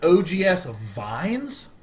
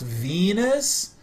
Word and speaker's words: Vines: he says it's pronounced Venus I I kid you not like the vi I know is intended to be pronounced ve but I'm not going